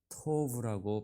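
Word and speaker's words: טוב: 토브라고 발음을 합니다.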